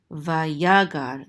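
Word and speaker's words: ויגר: Vayagar, the accent is on the second syllable because of this trope mark right here, vayagar.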